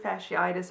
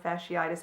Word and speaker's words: fasciitis: So I originally thought I had a heel spur, and then somebody mentioned and says you may have plantar fasciitis or plantar fasciitis. I've heard it pronounced both ways.